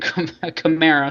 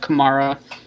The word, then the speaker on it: Kamara: west and this was Alvin camara sorry I will never say his name right I have kumara ingrained in my brain but I mean it